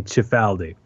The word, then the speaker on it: Cifaldi: You pronounced it the way that my God, what are we, like fourth generation Italian American family does? But were we in Italy, then the proper pronunciation would be Cifaldi.